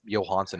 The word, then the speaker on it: Johansson: Like a lot of people pronounce Marcus Johansson as Johansson because it's just it's a J. It's a J. It's like, whatever. It's Johansson is how it really is, but that's fine.